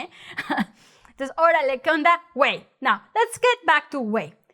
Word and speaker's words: güey: So you say, güey, no, gay, güey, see, güey.